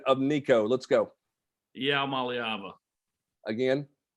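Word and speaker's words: Iamaleava: Let's start with the actual pronunciation of Nico. Let's go. Maliava. Again? Maliava.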